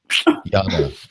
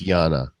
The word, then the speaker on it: Jana: Yana. You say it right. It's Yana.